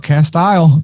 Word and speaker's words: Castile: Castile.